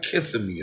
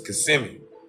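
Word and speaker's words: Kissimmee: Orlando it's called CMI when you look at it the pronunciation of it it looks like kissm or something like that but it's CMI you know what I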